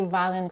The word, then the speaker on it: violent: She significantly reduces the second syllable. Almost no schwa there. She doesn't say violent, she says violent. And she drops the T at the end.